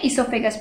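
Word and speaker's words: oesophagus: हम क्या बोलते हैं, इसोफेगस बोलते हैं, इसका नाम ओ साइलेंट होता है, इसोफेगस होता है।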